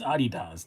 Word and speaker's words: Adidas: It is Adidas.